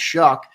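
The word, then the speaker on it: Shough: He said it is pronounced Shuck.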